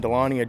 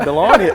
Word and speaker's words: Dahlonega: Dahlonega. I say Dahlonega. How do y'all say it? How is it pronounced? Dahlonega. Dahlonega. I say Dahlonega. Yep. No. So I have to really enunciate the G, right?